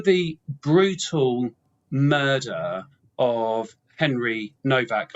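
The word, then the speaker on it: Nowak: And um the what happened after the brutal murder of Henry Novak. I know it's pronounced Novak because of his Polish origins even though it's N O W A K.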